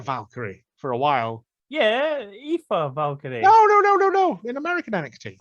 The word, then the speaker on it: Aoife: It's Aoife, but she's now Lyra because no one in America no one in Britain can pronounce it.